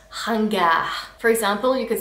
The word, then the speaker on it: ringard: The next word means old-fashioned and it's pronounced ringard.